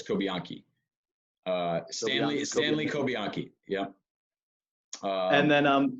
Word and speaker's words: Cobianchi: Cobianchi. In Italian, the CH, there's no ch sound with a CH, so it's Cobianchi.